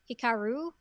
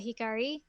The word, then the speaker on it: Hikari: Also, he gets his name wrong because he originally calls him Hikaru instead of Hikari. Hmm. And he's like, "No, that's not my name.